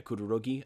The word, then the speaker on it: Kurogiri: Yeah, Kurogiri.